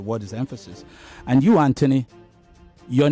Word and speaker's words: Anthony: is Anthony, even though it's a T and an H. I heard you a couple of times call yourself Anthony. Do you understand? Yes, you did. I heard you. This is the way we pronounce it. It's Anthony. Okay? Okay. Yeah. I guess it's the American pronunciation.